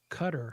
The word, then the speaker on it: Qatar: it's there is it in Cutter cutter umy spelled like Qatar uh like four to